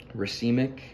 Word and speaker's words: racemic: kind of gets into the racemic that's how it's pronounced mixtures where you can